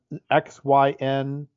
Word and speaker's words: Xinjiang: And I'm not going to be able to pronounce this, but it's Shihezi City in Xinjiang in China.